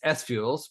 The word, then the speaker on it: SFuels: Well, it's SFuels, but the SF was from the get-go.